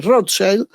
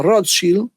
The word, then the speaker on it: Rothschild: muy conocida, que es la Rothschild, o Rothschild, según hagamos la pronunciación alemana, que es su origen, o más en inglés, donde, bueno, hoy suponemos cabeza de este poder.